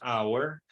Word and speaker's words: hour: silenciosa como en español muda como decimos por ejemplo en hora decimos Hour honesto decimos honest honestidad